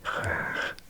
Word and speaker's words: graag: back and we'll do graag, one of the most difficult words for British speakers. Graag. It's like, how many times do you want to say r? 3 in a one-syllable word.